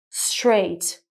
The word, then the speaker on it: straight: But then if we take the third word, straight, again, GH is also in the middle of the word, but the sound is different. It's what we call a silent GH, straight.